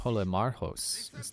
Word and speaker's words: Polemarchos: Polemarchos. That's how it's supposed to be pronounced.